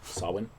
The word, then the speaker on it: Samhain: I didn't know that was how you pronounce Sawin. I've been doing it wrong this whole time. Yeah, it's pronounced sort of like S-O-W Sawin.